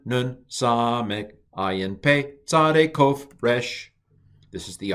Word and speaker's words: kof: Kof. This is transliterated with a Q, but it's a ko, roof of the mouth, ko.